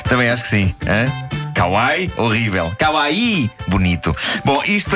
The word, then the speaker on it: kawaii: que eu disse chamar-se Kawai e afinal não pronuncia-se Kawai com ênfase no i porque Kawai diz a Kika Kawai tem o significado oposto Kawai é horrível e